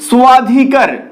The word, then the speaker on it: স্বাধিকার: সেটা সংস্কৃত উচ্চারণ হবে স্বাধিকার স্বাধিকার তো এখানে উহ এর মত উচ্চারিত হচ্ছে তো মনে রাখবে অন্তস্থ এর আসল উচ্চারণ এর মতো ইংরেজিতে ডব্লিউ এর উচ্চারণ যেমন অন্তস্থ ব এর উচ্চারণ ঠিক সেই রকম তবে এই অন্তস্থ ব